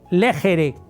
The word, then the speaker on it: legere: La primera se escribe legjere con g, legere.